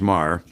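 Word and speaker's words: Meagher: cumbersome task sylvia maher m-e-a-g-h-e-r pronounced mar a wonderful lady we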